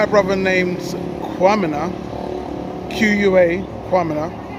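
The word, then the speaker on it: Quamina: So, the enslaved Africans there, led by a brother named Kwamina, Q-U-A, Kwamina, which strangely enough is the same pronunciation as the Ghanaian name Kwamina, spelled K-W-A.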